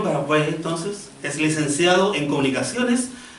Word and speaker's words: Parvex: saqu todo lo malo parex con no tiene tilde no tiene tilde Pero como esa es la pronunciación original de la medio francés entonces Ah de la parte francesa de Suiza parag Entonces es licenciado en